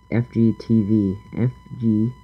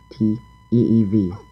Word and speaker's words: FGTeeV: FGTV. FGTEEV. That's how you pronounce it.